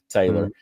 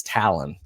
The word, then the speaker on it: Talon: kid's name right, because a lot of people call it Taylor. And I said, how do you spell it? And she was like, it's just like a bird's beak. She said, it's Talon.